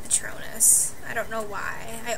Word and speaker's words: Patronus: fun of me because sometimes i say patroness instead of patronus i don't know why